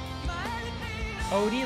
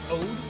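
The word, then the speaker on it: O.de: Odie, like Ode? Oh, it's not OD, just Ode?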